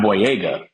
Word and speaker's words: Boyega: You just gotta throw the vowels out there. Boyega. Just as long as you extend them vowels, you're gonna be A-okay with it.